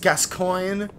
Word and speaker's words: Gascoigne: apparently it is pronounced Gascoigne.